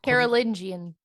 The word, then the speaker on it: Carolingian: Carolingian.